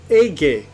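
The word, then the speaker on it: Aege: It's not egg, it's Age. I should have thought that it would actually be pronounced Age.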